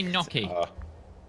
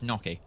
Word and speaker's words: gnocchi: pronunciation it found it Lex correct the correct pronunciation in the USA and everywhere thank show me no key yeah it searched it for me it's I